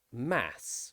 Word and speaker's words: mass: pass glass and brass there are exceptions such as mass or lass these two words in british english have the short vowel a sound not the short vowel r sound there is also another